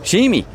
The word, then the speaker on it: XGIMI: Alors le monsieur m'a dit ici, qui est chinois, nous en Chine on ne prononce pas le X, donc c'est Jimmy.